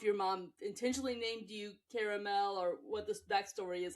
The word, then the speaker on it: Caramel: It's Caramel. The first thing I thought when you mentioned perfume was what a perfect name for a perfume. I mean, I don't know if your mom intentionally named you Caramel or what this backstory is on that, but